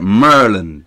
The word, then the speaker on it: Maryland: This is exactly how they say it. Merlin. That's what they say. Merlin.